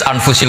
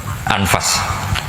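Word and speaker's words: أنفس: Di sini ditulis anfusil kutub. Kalau saya baca anfasihil kutub. Karena maknanya kitab ter baik. Kalau kitab terbaik bacanya bukan anfus tapi apa? Anfas.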